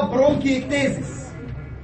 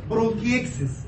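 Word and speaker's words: bronchiectasis: المرض اللي هنتكلم عنه بعد كده برونكيكتيزيس، او النطق الاحلى له برونكيكس من غير التين، هو لو نطقته بالاسم العلمي برونكيكتيزيس، بس دكاترة الصدر بيحبوا ياكلوا حرف التي يقول لك ايه برونكيكسس.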